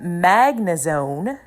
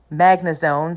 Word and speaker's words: Magnezone: Hopping into the next match and the final match, we have Magnezone. Magnezone? No, I think I said it right before. Magnezone. Yeah, Magnezone.